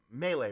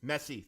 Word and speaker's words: Messi: yeah yeah he uh melee right is that his name am I saying it right yeah that was Messi thank you thank you